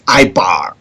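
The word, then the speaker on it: עברי: So one of the ancient titles that was given to us in ancient time was Ibar, or Hebrew, but the correct pronunciation is Ibar, right?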